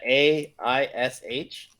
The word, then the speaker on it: Ayesha: One boon from Lord Ayesha. And you guys get your money. That AISH. Aish. You can spell it. I spelled it AYESH, but you can spell it however you want.